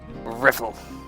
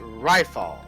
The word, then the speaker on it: Rifal: Riffle. Hey, you! Private, second class! My name is pronounced Rifal. Rylefal is not that difficult.